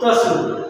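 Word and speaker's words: つ: দুইটা হল ব্যতিক্রম যার উচ্চারণ হলো চি এবং তসু আরেকটা শিশু লাইনের উচ্চারণ আমরা পাবো হাি হু তাহলে হাি [সশব্দ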